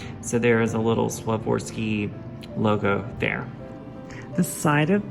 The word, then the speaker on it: Swarovski: So what's also special about this doll is that she is adorned with Swarovski, I believe is how you say it, Swarovski crystals, which, if you haven't heard of that,